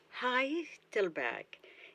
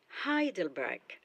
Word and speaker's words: Heidelberg: The first syllable is stressed, so Heidelberg. and the G at the end of the word is pronounced as K. Let's say the name of the town, Heidelberg. Heidelberg.